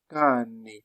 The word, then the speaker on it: cane: Par exemple, on aura ceci, cane, cane, cane, cane. Pourquoi est-ce qu'on a que? Parce qu'on a A. On n'a pas E et I. Il va donc se prononcer que.